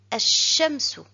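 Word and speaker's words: الشَّمْسُ: Nous remarquons que l'article L est suivi d'une lettre avec shadda, le petit 3 allongé. Pour la lecture, on ne doit pas prononcer le lam. Et je lis directement ash-shamsu, ash-shamsu, le soleil.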